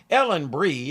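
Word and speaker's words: Ellen Bry: Ellen Bree, according to one source that's how it's pronounced, is best known as Shirley Daniels, a rather volatile nurse on St.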